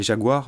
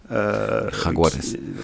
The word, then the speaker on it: Jaguares: Là, on voit par les résultats de leur province qui sont les Jaguars, vous m'excuserez pour la prononciation. Jaguares.